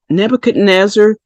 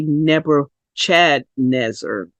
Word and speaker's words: Nebuchadnezzar: CH there they say Nebuchadnezzar or Nebuchadnezzar well it is actually the CH is pronounced like in school as a k do you know some